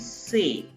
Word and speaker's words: c'est: So actually if you ask me individual pronunciation of this particular word, C apostrophe EST, it is say. T is silent, but here T would be pronounced because T and U placed next to each other.